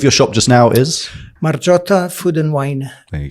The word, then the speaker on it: Margiotta: should you say it marot marot so if you took the GI out and replaced it with a J you would get the